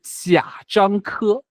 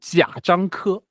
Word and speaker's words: 贾樟柯: First question, how do you pronounce his name? 贾 so 贾樟柯 Oh, okay. yeah 贾樟柯 Jia Zhangke.